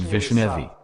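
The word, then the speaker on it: вишнёвый: Farther the speech about accents in the Russian word Vishnevy. The sense of the word changes depending on where there is an accent, on the first or second syllable.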